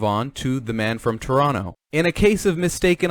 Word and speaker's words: Toronto: for their mispronunciation of toronto they pronounced it toronto it's supposed to be a silent second t anyways they only pronounced